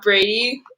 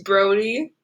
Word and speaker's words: Brody: I think would be to be able to have people memorize that my name is not Brady, it's Brody. Brody.